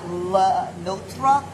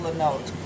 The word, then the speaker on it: Lenôtre: It looks like Lenotre, but it's pronounced Lenotre.